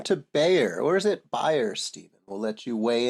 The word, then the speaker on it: Bayer: So, I I would say buyer is I guess the way that I pronounce I think it's the way that they would pronounce it in German. buyer, but nevertheless, they're a